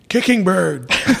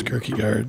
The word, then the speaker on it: Kirkegard: he called me that he say my name so it was like kicking bird you know what I mean report to the whatever you know and I'm like it's Kirky guard and kicking bird how